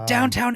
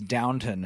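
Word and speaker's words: Downton: Um, today I learned it's Downtown, not Downtown Abbey. Always that's how the British say it down to an abbey. There's no W at the end of there.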